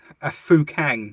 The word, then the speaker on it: Fukang: Did you know that Citroen sold a car called a Fukang, is how that's pronounced, in China?